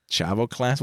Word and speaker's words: Chavo Classic: Chavo Classic? Well, I have to thank Wikipedia for that, but I do remember him as Chavo Classic.